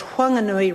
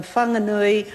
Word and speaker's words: Whanganui: in the area that they wish to have the the name quandary with the H in it and pronounced with that the way the honorable arturia pronounces it frequently in this house as Huang Inori rather than fun the new E which may be may